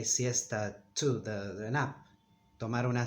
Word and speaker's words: siesta: In Spain, they pronounce it in a sort of a whistle, siesta, siesta, siesta. Those of you who have traveled to Spain may have noticed it. Siesta, siesta. Those are the two sounds.